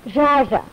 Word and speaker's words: Zsa Zsa: Gabor, how do you pronounce your Christian name? Zsa Zsa.